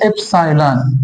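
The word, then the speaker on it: epsilon: Greek symbol है, Greek letter है एप्सिलॉन, इस तरह प्रोनाउंस हो रहा है।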